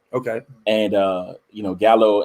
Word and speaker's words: gallo: and uh you know gallow in spanish is actually pronounced gallo and it means rooster oh yeah i mean